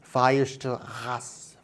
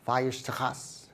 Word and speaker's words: Weierstrass: Here, the word Weierstrass is a German word, so in German you pronounce W as the V sound in English, and this R sound